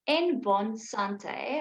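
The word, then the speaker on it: En Bonne Santé: It's Nbon Sante, but it's spelled Nbone Sante.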